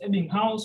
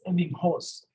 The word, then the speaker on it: Ebbinghaus: ebbinghaus a big house so in german you pronounce this evening house but english people want to be a bit complicated they do this as ending horse i don't know why this guy came up